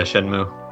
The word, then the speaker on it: Shenmue: Is that how you pronounce it? Yeah, Shenmue.